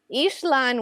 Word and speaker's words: Ixlan: on the region, but I've always heard it's spelled Eeks but pronounced Ish. So when Ishlan was or Ixlan was, there I go.